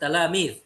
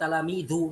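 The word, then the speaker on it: تلاميذ: Waqafat talamidh. Gitu ya bacanya ya. Jadi kalau waqaf jangan diharokati, maksudnya jangan waqafat talamidhu kayak gitu enggak.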